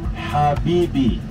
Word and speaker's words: Habibi: So this word is Habibi.